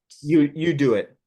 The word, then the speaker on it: UDOIT: You do it. Do it is how you pronounce.